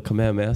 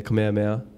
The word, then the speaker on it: Kamehameha: are your chaos cam I heard not to say cam because it's like you're cutting the name short so you're taking away